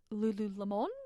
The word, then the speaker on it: Lululemon: one of these names some people are like Lululemon Lulu how do you say I'm like it's Lululemon it's a big yoga company